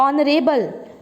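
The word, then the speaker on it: honour: Honest, आवर, ऑनरेबल, ऑनर, air, heirloom. ठीक है, अब देखो मैंने 6 वर्ड्स तुम्हारे आगे बोले हैं, दिखने में शुरू हो रहे हैं ये एच से, बट एच इज साइलेंट।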